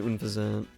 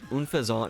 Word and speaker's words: Unfezant: Then we'd go with Staraptor, then Unfezant. That was always a weird one to pronounce. It seems like it's supposed to be unpheasant, like unpleasant, and pheasant, the bird, but Unfezant just kind of sounds French.